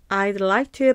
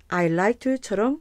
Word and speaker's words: I'd like to: I'd like to의 발음은요. I'd like to 발음하시거나 I like to 발음하셔도 좋습니다.